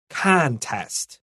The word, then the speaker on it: contest: underline c n and we're going to stress the first syllable contest and now let's look at